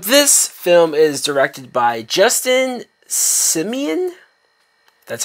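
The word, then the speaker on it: Justin Simien: don't know but this film is directed by Justin Simeon that's how you say his name and the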